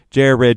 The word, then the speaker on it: Jared: your name in and my name is jared it is jay red we got four syllables